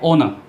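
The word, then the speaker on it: honour: इसको बोलते हैं ओनर, ठीक है ओनर ना कि होनर, एच इसमें साइलेंट रहता है, होनर ना बोल करके ओनर बोलिए, होनर ना बोल करके ओनर बोलिए।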